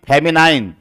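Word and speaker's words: feminine: फेमिन नहीं, फेमिनाइन।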